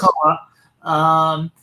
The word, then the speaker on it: McCullough: McCullough, is that how you pronounce it? Yes. McCullough.